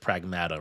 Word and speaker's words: Pragmata: Of like, oh, maybe there is something about Pragmata that or was it Pragmata? Right, that's the correct way they're pronouncing it.